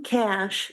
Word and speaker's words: Kasch: Okay, I'm probably going to get approved for this, but I'm Cash, and it's spelled Kasch.